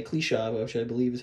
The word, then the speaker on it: Kliszow: Kliszow? I'm trying to pronounce it the Polish way. Kliszow, which I believe is how you say that.